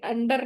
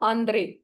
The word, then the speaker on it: Ander: इसको बोलना, ये अंडर नहीं है, इसको आपने बोलना है आंद्रे, ANDE, ठीक है।